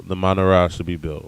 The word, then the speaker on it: menorah: So this is, again, it's a very precise description of how the menorah should be built, or as it's more modernly pronounced, menorah.